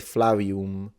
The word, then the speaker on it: Flavium: He said Flavium with a W.